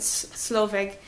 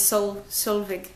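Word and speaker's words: Solveig: I've been pronouncing it Slove, but her name is Sol Sulvig.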